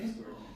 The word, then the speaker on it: import: Import. So what is the rule? That nouns will have the main stress coming. I think first. Okay? First. On the first syllable, that's right.